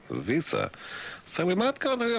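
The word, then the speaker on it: Wiese: Western Australian police minister Bob we visa W I E S E. It be visa.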